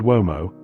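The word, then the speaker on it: uomo: they spell vom and with the Italian pronunciation form the beginning of the word womo or man.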